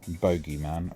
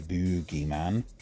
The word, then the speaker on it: bogeyman: particular world probably something like bogeyman or as the Americans say boogeyman jumbo or Baloo isn't